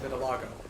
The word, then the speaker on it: vitiligo: spelled Vitiligo yeah it's spelled that but it's pronounced vitilago I was a medical student fair enough um